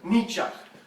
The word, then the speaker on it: Nietzsche: yet these words were written by Frederick Nietzsche pronounced me ciao Frederick Frederick me Chuck Frederick Frederick me Chuck repeat after me Frederick Nietzsche got to do the dance besides having the